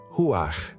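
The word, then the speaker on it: רוח: A palavra original em hebraico é ru e para pronunciá-la corretamente, você quase precisa limpar a garganta no final.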